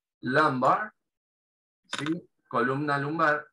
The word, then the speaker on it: lumbar: Y acá tenemos lumbar, esa U se pronuncia parecido a una A, lumbar, ¿sí?